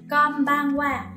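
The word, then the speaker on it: こんばんは: Konbanwa.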